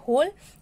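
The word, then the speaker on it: whole: बोलते हैं पूर्ण संख्या होल इसमें जो डब्लू वर्ड है ना यह डब्लू वर्ड है साइलेंट वर्ड है तो यहां पर ओपन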